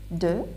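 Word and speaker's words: deux: So 1, 2, look at here, 2, X is silent.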